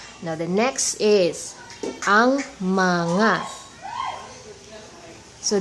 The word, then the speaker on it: mga: the next is our mana so this mga here it is pronounced as ma na okay this is the